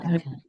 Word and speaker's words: غطاءك: غطاءك Yes, غطاءك, because I felt like you were pronouncing with Ain. غطاءك. No, it's with Hamza. غطاءك.